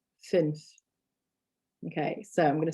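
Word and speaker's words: fünf: and the letter u with the normal amount is another number and it's the number five which is finch finch okay so i'm going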